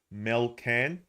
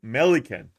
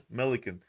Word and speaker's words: Melican: Fullback Dan Rampy, Tom McCartan, Harry Cunningham, halfback Nick Blakely, Lewis Melcan. I can't say it properly. And Melican. It's like Pelican. Melican.